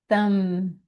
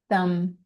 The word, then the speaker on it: thumb: Thanksgiving, the uh the b h the b is silent, so it just ends with an m sound. Thumb. Thumb.